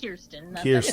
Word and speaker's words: Kirsten: well first of all my name is pronounced kirsten okay thanks not a